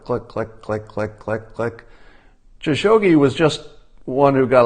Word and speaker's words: Khashoggi: And the KH in Khashoggi is pronounced like a rasping cough.